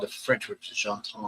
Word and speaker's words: gendarme: They called the French, which is gendarme. I never pronounce it correctly, but it's gendarme.